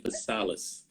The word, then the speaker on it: Petsalis: I was saying Petsalis instead of Yeah, that's all Petsalis.